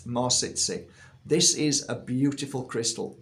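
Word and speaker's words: Mawsitsit: so this is called more sit sit so it's spelled m a w sit as in sit down sit sit more sit sit this is a beautiful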